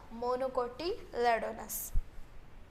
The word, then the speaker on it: monocotyledonous: और इसको क्या आएगा, मोनोकोटिलेडोनस।